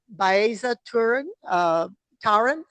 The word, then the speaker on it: Baeza-Tarin: butcher your name, please tell me how to pronounce it. Is it Baeza Turan Turan?